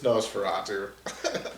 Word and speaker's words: Nosferatu: I'm like, I can believe everything in this Conda, but then he goes Nosferatu, and I'm like, is he just pronouncing it wrong? No, it's Nosferatu.